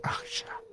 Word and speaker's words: Axa: ficticia que se llama Axa Axa 23a 23, pero se pronuncia como el movimiento de una serpiente akha 23 porque va a ser descubierta en el siglo XX, estamos hablando del futuro.